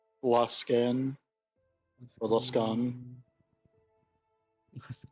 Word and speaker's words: Luskan: Luskan. Or Luskan. What's it called? I don't know how it's pronounced. Mantis' character. Mantis, how do you pronounce your Yes. character? Low scan.